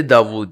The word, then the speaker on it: داؤد: میں نے صرف اس کا تلفظ بدلا ہے, ڈیوڈ سے داؤد.